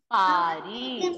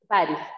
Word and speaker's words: Paris: First one is Paris. Repeat all of you. Paris. No, Paris is Paris, yes, but pronunciation is Paris. S will be silent.